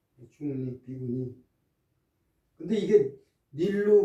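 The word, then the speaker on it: 尼: 이게 닐자라고 발음을 하면은 저지하다는 뜻으로 쓰일 수가 있습니다.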